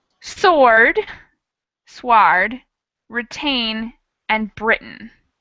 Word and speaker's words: Britain: But I think what you're trying to say is that that last syllable is really different. We have A, that long A sound, and then in Britain, we almost cut the vowel out entirely.